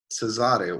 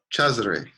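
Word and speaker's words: Cezary: In Polish, it's Cesare, where the accent is on the second to last syllable. But the Polish is originally from Italian, Cesare. And so if somebody pronounces it more like an Italian speaker would, then I'm not going to correct them when they pronounce the accent where it would be in Italian, So it's like they're pronouncing it the Italian way or the Polish way.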